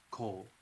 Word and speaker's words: Culhwch: For those of you who are looking at Cole, and if you want to know how to spell it, and for anybody's notes, it's CULHWCH.